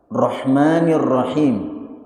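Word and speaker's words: الرحمن الرحيم: Ingat, cara membacanya adalah Rahmanirrahim. Ha.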